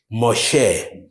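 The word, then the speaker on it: משה: is the man modest in Hebrew he is pronounced Moshe and you've read his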